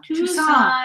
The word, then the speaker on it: Tucson: I ordered the Tuscan chicken once at a restaurant, and I will never forget now how to pronounce Tucson.